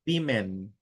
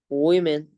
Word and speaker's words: women: women. Women.